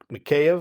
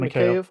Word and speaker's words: Mikheyev: Then in the first it was Mikheyev, I think is how you say his name. Mikheyev.